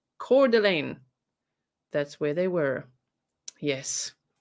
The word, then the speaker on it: Coeur d'Alene: hold on one second i'll say it correctly now coeur d'alene i've literally got in google how to pronounce that word cordlane that's where they were yes okay coeur d'alene so we continue with